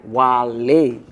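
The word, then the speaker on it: Walay: is wall a w a l a y while a um it's not w-h-a-n no i had to spell it for them how about w-h-a-l-e-y-y lay all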